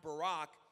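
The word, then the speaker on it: בָּרַךְ: word bless is a hebrew word and it's pronounced barack and it means to bestow good it means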